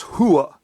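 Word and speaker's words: hooah: that first word on top there which you pronounce it is hua and and when you're in the army and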